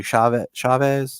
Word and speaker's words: Chavez: I'm a Conjuring film fan, and I was very interested with, I want to pronounce it correctly, Chavez?